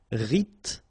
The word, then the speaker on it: rythmique: Remember, Y pronounced like E and then H doesn't exist. Rythmique.